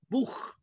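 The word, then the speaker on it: Buch: الكتاب بوخ، اللي تسي ها هنا بتتنطق زي الخه بتاعت العربي كده، بوخ، بوخ.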